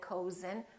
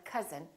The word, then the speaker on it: cousin: but number but also sometimes this sound is spelled with oh you as in words like cousin my cousin we don't say my cozen we say my cousin or country and once